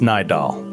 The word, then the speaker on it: Nidal: it's pronounced Nidal.